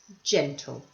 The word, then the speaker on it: gentle: So this person is gentle. Notice with the two-syllable words, the stress is nearly always on the first syllable. Gentle, loving, caring.